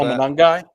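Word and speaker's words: Monangai: Manong Manong. Is that how you say that Matt? Uh sorry. One more time. What' you say? Kyle. It's Manong, right? The Bears. Is that how you pronounce Kyle Manungai?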